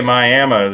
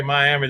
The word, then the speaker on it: Miami: out across oklahoma again now when you say my ammo is that miami yeah it spelled miami at red miami but if you're up there and you say miami they're going to look at you like you're a dummy and take it from